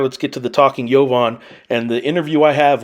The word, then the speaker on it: Jovan: really matter and I know how to say yovon tell people the correct pronunciation of your your name primarily your last name uh Yovan how how bad do people butcher